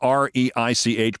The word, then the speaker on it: Reich: He was heard telling Robert Reich, who spells his name R-E-I-C-H, but pronounces it Reich, telling Robert Reich that he should change his first name to Third, leaving millions confused.